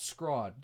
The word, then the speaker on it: scrod: boston massachusetts area and there is no fish called squad squad is a cut of either halibut or Cod and if it's halibut it's spelled SCH ro d if it's Cod it's spelled scr OD without the h and you don't get